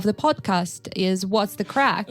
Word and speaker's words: craic: call it What's the Crack? Because basically that's how they greet each other or ask each other in Northern Ireland, and the crack is spelled as CRAIC.